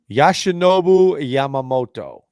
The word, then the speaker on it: Yoshinobu Yamamoto: But I think our biggest target that we're really going for in Boston is Yoshinobu Yamamoto. Very good. You pronounced that really good.